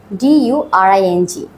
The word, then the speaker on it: during: এরপরে what a during, D-U-R-I-N-G. সাধারণত এটার উচ্চারণটা হয় জয়ের মতো করে during।